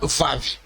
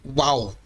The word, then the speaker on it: Vav: O sinal Vav é a 6ª consoante do alfabeto hebraico e se chama Vav. Podemos encontrar em outras fontes seu nome como sendo Uau, Vô ou Uau. Contudo, a pronúncia correta é Vav.